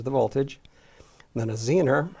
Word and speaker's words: Zener: And then a Zener, some people call it Zener, pronounce it, can be used as a voltage regulator.